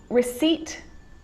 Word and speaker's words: receipt: column column that's it the letter p can also be silent in words like receipt psychology the name of central